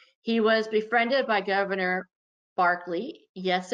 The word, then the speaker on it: Berkeley: was befriended by governor barkley yes it's spelled berkeley but his last name is pronounced barkley and barkley apparently thought that he